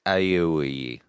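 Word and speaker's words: Aiwei: How do you pronounce that? I've already forgotten. It's Aiway.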